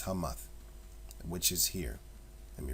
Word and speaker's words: Hamath: It's spelled Hemeth, but it's Hamath, which is here.